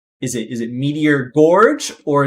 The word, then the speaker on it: Meteor Gorge: is it is it meteor gorge or is it meteor george it which which is the current correct pronunciation and florida z said the correct answer which was george and mayo put him